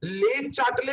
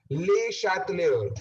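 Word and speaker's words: Le Chatelier: मेरे को बोलता है सर ले चैटले प्रिंसिपल दोबारा समझा दो ना, एंड आई वॉज इन टू the laughter, right? तो ऐसा सीन आपके साथ ना हो, ये प्रोनाउंसिएशन ध्यान से सुन लो, ले शैटलियर, ठीक है?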